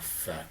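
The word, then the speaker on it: phat: Because I'm from the car business, and the word is spelled P-H-A-T. Yeah. So it's like, boy, I got a fat car.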